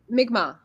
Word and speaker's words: Mi'kmaq: How do I pronounce it? Mi'kmaq.